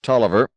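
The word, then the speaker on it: Taliaferro: time Q one phone each Tolliver spelled t a l i a f e r r o in the directory learn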